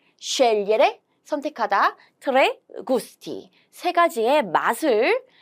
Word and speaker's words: scegliere: 여기도 마찬가지로 sce, 얘는 리에죠. 그래서 리에인데 우리 어떻게 읽기로 했죠? 좀 더 빠르게 리에를 리에 이렇게 scegliere, scegliere, 선택하다, tre gusti, 3가지의 맛을 선택할 수 있습니다.